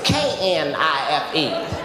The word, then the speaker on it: knife: Yes, that would be knife. Knife. This is what she told me in front of the whole class. She said the K is silent.